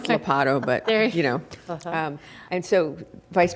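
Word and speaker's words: Ladapo: Oh, Labada. I can't ever say it correctly, so forgive me. It's Lapato, but, There- and so,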